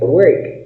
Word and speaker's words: work: Yes, work, trabajar, trabajar. ¿Cómo se pronuncia work? Work, como si fuera una E.